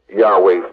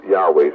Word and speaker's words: Yahweh: Now understand well y a we is not yahweh's name this is the English pronunciation of yahweh's name so when you see y a we